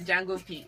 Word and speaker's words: Django P: You went on the Django P. The D is silent.